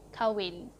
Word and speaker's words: kahwin: So here I've written the informal pronunciation of kahwin. We don't really, just strike the H over here, and you don't say kahwin, you say kawin.